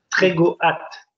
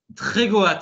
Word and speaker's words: Trégoat: Trégo hâte. Trégoat, je ne savais pas comment le prononcer. Voilà, si on dit le A, c'est un nom breton et on prononce A.